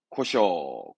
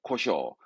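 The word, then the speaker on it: 故障: 고쇼. 고쇼.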